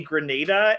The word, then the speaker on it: Grenada: You told me Grenada, and I was okay. Grenada. Okay, phonetically it's on there.